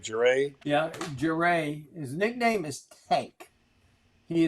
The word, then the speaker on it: Jeray: Am I pronouncing his name right? Jeray. Yeah, Jeray.